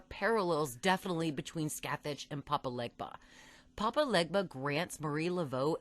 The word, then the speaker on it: Papa Legba: You're Papa Legba. Papa Legba.